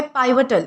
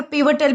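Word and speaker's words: pivotal: अब दोस्तों, इसके बाद हमारा अगला वर्ड आता है पाइवटल। इसे जो है वो पाइवटल भी प्रोनाउंस किया जा सकता है या फिर पीवटल भी हम प्रोनाउंस कर सकते हैं।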